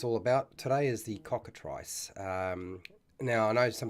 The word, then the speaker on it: cockatrice: ice then the the eye gets the I sound rather than the e sound so cockatrice ice i ice e at the end ice um for those of you in North America might be pronouncing it slightly differently maybe I'm Incorrect and how that is supposed to be pronounced but I'm going to go with it's cockatrice rather than cockatrice okay now that will